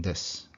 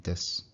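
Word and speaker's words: です: Likewise, the U at the end of this is usually just dropped, so it sounds like this. So to say that I'm an American, I would say America-jin desu, America-jin desu, not America-jin desu, which sounds too formal.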